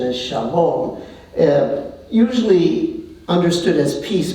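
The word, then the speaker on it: שלום: the Arabic pronunciation is Salam uh the Hebrew pronunciation is Shalom and usually understood as peace but it means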